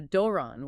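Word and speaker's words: δῶρον: An example is doron, gift. That first syllable, do, with the long omega, gets the rise and fall. There's a doron with the rise fall.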